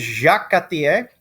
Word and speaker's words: Jacques Cartier: The next guy we're going to talk about is Jacques Cartier, because, pronouncing every letter in French is for chumps.